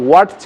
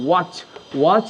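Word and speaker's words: watch: তারপর রয়েছে ওয়াটস, এটা কমন, আমরা সবাই জানি, কখনোই আমরা ওয়াটস বলি না, অর্থাৎ টি সাইলেন্ট রয়েছে। এক্ষেত্রে টটা আমাদের উজ্জ থাকবে, এখানে উচ্চারিত হবে না, সাইলেন্ট থাকবে। সো এটা হবে ওয়াচ যদি বলো তাহলে সেটা পারফেক্ট হবে।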